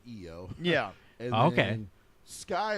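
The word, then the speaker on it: IYO: It's a very simple name change, so they added the Y, so people would pronounce it EO.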